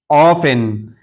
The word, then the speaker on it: often: इसी तरह ऑफेन। ऑफेन इसको ऑफिन नहीं पढ़ेंगे बल्कि टी साइलेंट है। इसलिए कि टी के बाद इ एन एक साथ आया है।